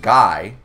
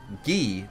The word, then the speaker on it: Guy: French their name isn't guy like guy Fetti uh it's G but it's spelled the same but you pronounce it ghee the moment you realize that they're French for some reason that